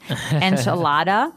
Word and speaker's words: enchilada: and just a warning you're going to hear me say the American pronunciation enchilada and you're going to